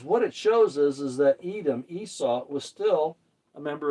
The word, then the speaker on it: Edom: Adam is how you actually say this. Edom is how you say this one here.